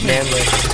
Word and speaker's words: Manelick: Manelick. Did you do that on purpose? No, I tried to write it phonetically, and it didn't work.